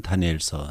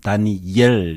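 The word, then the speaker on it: דָּנִיֵּאל: 첫 번째, 다니엘의 이름에 대해서 우리가 생각해 볼 필요가 있는데, 원문은 다니엘 이렇게 읽습니다. 다니엘이 아니고 다니엘 이런 발음이 되겠습니다. 히브리어도 아람어도 똑같습니다.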